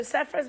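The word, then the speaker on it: Sarfraz: Yeah, so Safras Manzoor and I are both big Bruce fans, and we've been friends for a long time.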